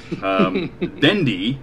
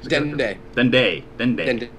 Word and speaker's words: Dende: Dendi, is that how you say it? Dendi? Dende. Yeah.